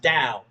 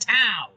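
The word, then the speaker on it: 道: That means it's a hard tao. But it's not an apostrophe. So, it should have been pronounced dao. But I didn't know that. Nobody knew that. So, we all said tao.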